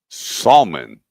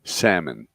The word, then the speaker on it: salmon: Salmon. Simon. What are you going to the Bible? Yeah. Salmon. The L is silent.